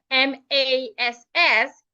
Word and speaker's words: mass: Well, the second word, M-A-S-S, is rightly pronounced mass. Take note that the letter A there has a long sound.